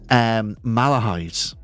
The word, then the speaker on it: Malahide: So I say Malahide. Some people say Malahide. Like they hit the Mal. So it's Malahide.